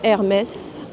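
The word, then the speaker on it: Hermès: Here is Mu Hermes, pronounced Hermes, please.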